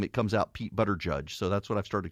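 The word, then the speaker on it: Buttigieg: there's butter judge Pete but a judge yeah that that's that's how everybody says pronounce his name but edge edge Pete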